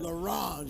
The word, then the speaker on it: L'Orange: L'Orange.